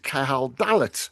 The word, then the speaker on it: Cahal Dallat: say I'm joined once again by the poet Cahal Dallat.